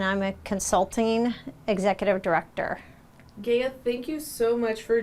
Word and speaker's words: Gaea: and begin with your first name last name spell it out along with your title okay my name is Gaia Powell g-a-e-a-p-o-w-e-l-l and I'm a Consulting executive director Gaya thank you so much for joining me today